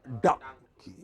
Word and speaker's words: donkey: It is not dong, it is dung. Open your mouth, like the hood of a crocodile. Donkey. Open it fully and close it quickly.